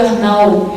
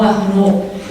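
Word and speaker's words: Arnaut: que virou o francês, por isso se pronuncia Arnaud e não Arnaud.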